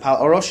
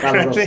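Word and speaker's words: Pál Orosz: CEO, and Pal Orosz. Did I Yeah, pronounce that Pal Orosz, correctly?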